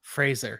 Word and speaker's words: Fraser: gotten better at our pronunciation of Fraser razor yeah thanks to the comments so thank you yes this is true and yeah yep and I I kept going and saying Frazier Frasier until someone reminded me